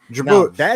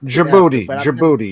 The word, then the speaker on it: Djibouti: oh okay yeah yeah Djibouti Djibouti yeah Djibouti yeah the D is silent like in Django the D is silent in digibody hey shout out to